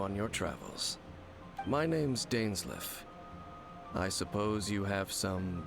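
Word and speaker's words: Dainsleif: someone accompany you on your travels my name's dainsley i suppose you have some business with me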